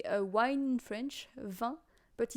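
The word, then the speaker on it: vingt: French here so yeah you say van as you would say wine but you do not pronounce the G and the T they just exist you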